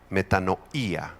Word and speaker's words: metanoía: La palabra arrepentimiento es la palabra griega metanoía, con acento en la i.